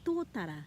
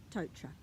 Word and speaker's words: tōtara: By that I mean saying manurewa instead of manurewa, by saying tōtara instead of tautra.